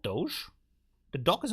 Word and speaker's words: Doge: okay Doge Doge a doge it's pronounced Doge there you know do it sounds a little bit French do do Doge you're